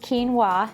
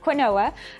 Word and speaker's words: quinoa: Now, if quinoa is new to you, and yes, it's pronounced quinoa, not quinoa, I hear that quite often.